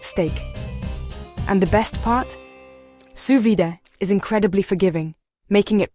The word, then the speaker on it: sous vide: It's called susvid, pronounced suvid, and honestly, it's not as intimidating as it sounds. Suvid, which is French for under vacuum, might seem like